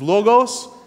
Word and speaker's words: logos: This word in Greek is logos. That's how you say it in English.